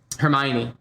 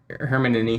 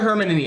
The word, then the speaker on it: Hermione: and the entire book series i think i pronounced that herman any yeah it's funny because uh yeah i know it yeah he calls her hermione i call her her her hermione or something